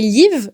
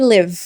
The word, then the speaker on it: live: Donc il y a quatre I dans cette phrase, mais aucun de ces i ne se prononce comme un i français. Le premier se prononce I et les trois autres se prononcent et. Donc attention, quand tu te présentes à quelqu'un, ne dis pas I live, dis I live.